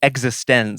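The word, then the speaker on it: eXistenZ: I believe it is pronounced existence, Yes.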